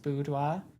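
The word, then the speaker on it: Boudoir: Since bodois is pronounced budoa is bwa.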